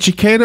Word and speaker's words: cicada: okay I didn't know that so is it cicada or chicada what is it well it's cicada um yeah cicada there are different pronunciations I guess in different parts of the